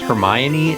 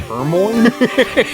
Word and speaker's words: Hermione: it's like when you find out that it's pronounced Hermione and not hermo I uh I actually did not I don't